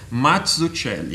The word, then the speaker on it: Mazzucchelli: eu sempre falei Mazzucchelli, daí eu descobri que é Mazzucchelli, né? Você tem essa é a pronúncia? E tem que fazer a mãozinha. Lógico, porque é italiano. Tem que fazer a mãozinha. Mazzucchelli. Mazzucchelli. Então, é tipo mozzarella.